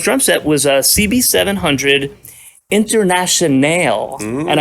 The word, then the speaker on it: Internationale: set was a cb700 Internationale and I say it like that because it wasn't spelled International it spelled like a i l e at the end so I guess it's